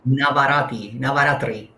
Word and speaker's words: Navratri: uh, I Happy want Navaratri. How do I pronounce it? you pronounce it Navratri.